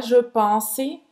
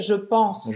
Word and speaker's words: je pense: A mesma coisa com outras palavras, como por exemplo, não é je pense, é je pense. Je pense, não pronuncia o E no final.